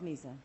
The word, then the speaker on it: Mesa: Now, if the city the size of Mesa, or Mesa, is it pronounced? It's Mesa. Mesa.